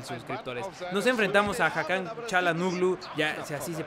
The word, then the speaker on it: Çalhanoğlu: Nos enfrentamos a Hakan Çalhanoğlu. Ya, si así se pronuncia, Çalhanoğlu.